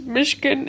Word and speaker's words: Myshkin: now mmm Lena Myshkin it's come to my attention that it's pronounced Michigan and not Michigan but